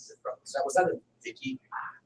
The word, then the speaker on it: Vichy: Was that a Vicky? How do you say it? What was that? Which one? Under Nazi rule, half independent. V-I-C-H-Y.